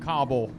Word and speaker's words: Cobble: me come here Dad go ahead and pronounce that last name for me one more time Cobble Cobble all right let me